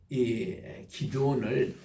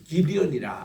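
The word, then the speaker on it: Gideon: 얘기를 우리가 읽게 됩니다 우리 영어로 보면은이 기드온을 기디언이 그렇게 발음을 해요 기드온 이라면은 미국사이 못 알아듣습니다 기디언 이래야 알아듣는데에 자 오늘 우리 다섯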